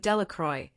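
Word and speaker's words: Delacroix: Jones and Dicky delacroy the villagers pronounced this name delacroy eventually made a great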